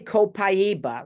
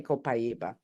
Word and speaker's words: copaiba: it differently I say copaiba like c p i e b u and then other people pronounce it a different way I don't know how you all do it but I say copaiba so if you put